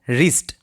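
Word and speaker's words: wrist: এখানে W silent. যার অর্থ হচ্ছে কবজি। আমরা কি বলব? রিস্ট।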